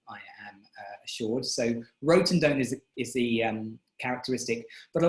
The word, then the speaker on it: rotundone: I always pronounced it rotundone, but I listened to a correct pronunciation and it's rotundone, I am assured. So rotundone is the characteristic, but a lot of people are anosmic to that flavour.